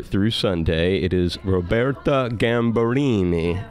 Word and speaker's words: Gambarini: Sunday it is Roberta gamble Eenie how am i saying that you're doing great perfect prevent that everybody in